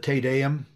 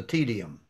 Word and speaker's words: Te Deum: Do you remember the thing that we would sing in matins, the Te Deum? You don't remember that? No. Well, someone once mispronounced it and called the tedium.